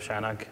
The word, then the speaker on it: CHI-NOG: Tom Kosminski I'm one of the organizers of shanik and also on the program committee so one